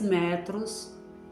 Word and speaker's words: metro: Sem o acento, metro, metro. Não tem sílaba forte. Com acento, metrô. Meio de transporte, metrô.